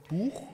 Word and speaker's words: Buch: ich übrigens richtig ausgesprochen Buch ja vololker gleich auf Anhieb richtig jetzt nicht sagen wie im Englischen Batch oder im französischen Büch sondern ein genuin deutsches Produkt volol ein buchich ich